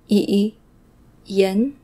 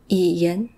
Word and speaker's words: Yiyan: Yiyan, Yiyan.